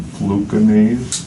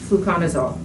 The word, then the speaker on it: fluconazole: Gave me a prescription to something called fluconase. Fluconazole. Okay. Yes. I guess I kind of butchered that.